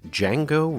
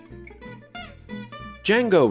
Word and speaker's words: Django: many people who believe that a man named D Jango Reinhardt was the greatest guitar player ever in